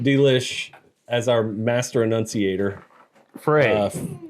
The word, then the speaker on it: Frey: how do you pronounce that word fry Frey spell it for me f r e y f r e y how do you pronounce